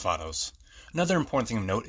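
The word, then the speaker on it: Vatos: So yeah, it's not pronounced like how I said in the video Vados, it's pronounced Vados.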